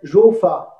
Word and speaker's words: Rou: Après, on verra également une autre technique qui s'appelle Jo-Fa. Ça s'écrit R-O-U, roux, mais ça se dit Jo.